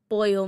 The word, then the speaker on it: pollo: that moment of explaining boil means chicken and this is how you pronounce it and two L's in Spanish sounds like a y and as he's putting